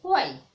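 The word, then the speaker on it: why: हैं, तो इसको बोलेंगे वाई। ओके, क्योंकि यहाँ पे हा नहीं बोलेंगे, हा है वो साइलेंट है, इसलिए हा को नहीं बोलेंगे, इसको बोलेंगे वाई।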